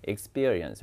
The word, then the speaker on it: experience: 그 스 발음 뒤에 p도 된소리거든요. experience 이렇게.